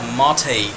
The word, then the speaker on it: mate: People who has no clue, they're gonna say mate, like an English word, mate. It's actually mate.